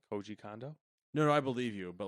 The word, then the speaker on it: Koji Kondo: Koji Kondo?